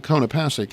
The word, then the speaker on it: Konopasek: So anyway, Lisa Konopasek, and that's the way you pronounce it, is here.